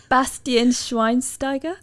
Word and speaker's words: Bastian Schweinsteiger: her oh here we go here we go Bastion shine steer I don't know Bastian Schweinsteiger wow that's on point nice there's no I've